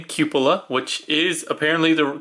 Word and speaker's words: Cupola: first of their remaster lines, and his name Cupa, which is apparently the correct way to pronounce that word. I did not know that. I was calling it couple like cupa but that's wrong.